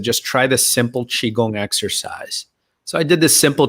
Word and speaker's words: qigong: it yeah i'm so i'm using the standard mandarin pronunciation qigong and um and that's okay you can call it chi kung ki gong whatever you